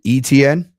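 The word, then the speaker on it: Etienne: was is actually ETN. Oh, okay. All right. I'll say it however you want. But but he has acknowledged it deviates from the French Cajun pronunciation of the name ETN derives from the old French name SDN.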